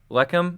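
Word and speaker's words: לחם: Lechem?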